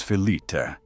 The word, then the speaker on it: phyllite: Pronounce phyllite as fill-it.